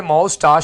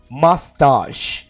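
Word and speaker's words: mustache: beard दाढ़ी beard beard मस्ता इस word को आपने मोस्टा नहीं बोलना मस्ता मस्ता मुछे अनल का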